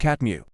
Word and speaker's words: CTMU: One of his signature works is his cognition-theoretic model of the universe, which he refers to as the CTMU and says, it's pronounced catmu.